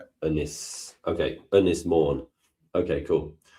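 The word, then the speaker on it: Ynys Môn: Unis mourn.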